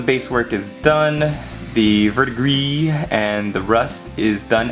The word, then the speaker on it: verdigris: Now we're gonna take Siltec green and paint some verdigris. I know it's pronounced verdigris. I just like to say verdigris.